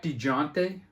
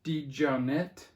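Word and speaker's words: DeJohnette: is Jack D G this is how I used to say his name Jack digiante I guess it's uh Jack D johnette and this is sorcery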